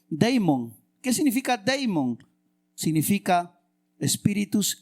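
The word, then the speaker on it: δαίμων: griego por si acaso la palabra demonio se se lee se escribe deimon Qué significa deimon significa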